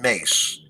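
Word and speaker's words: Myss: I got a tape of Carolyn Mace, and her last name is spelled M-Y-S-S, and she's a spiritual teacher, and she actually still teaches today.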